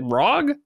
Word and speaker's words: ROG: I recently bought a rag Ally is it Rog is that how you say it they say RG I say ra okay we'll say Ro C I'm calling it ra exactly thanks thanks to